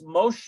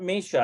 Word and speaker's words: משה: And then I bet you that's Moshe. It's not Misha. I think it's Moshe.